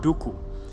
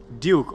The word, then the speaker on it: Duku: my name Duku in different places is said in different ways. So some people call me Count Duku, and other people may call me Duke, or some people, even in some African countries, they say my name Duku with a click, like Duku.